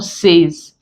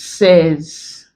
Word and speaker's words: says: When we're dealing with the monotongues, if we add S to this, it's no more says, it becomes says. So there's a difference between this and this. While this is say, this one is says. The AY here doesn't take the A sound, rather it takes the short S sound.